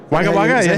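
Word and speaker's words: Wagga Wagga: maybe Darwin Aviation maybe wag wag you pronounce it in New South wag wag yeah we pronounce it wag wag wag wager was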